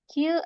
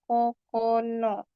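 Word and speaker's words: 九: Q atau ku itu 9. Cara baca lainnya kokono.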